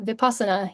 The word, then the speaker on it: Vipassana: really interesting, and I'll see if I can pronounce this correctly. It's Vipassana course, a Vipassana course. Mm-hmm. Yeah. Is that correct? Yeah. Vipassana.